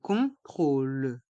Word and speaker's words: contrôle: contrôleur un contrôle un contrôle dans le mot contrôle il y a encore le son on con trôle et le O a un accent circonflexe et on le prononce o contrôle contrôle un contrôle un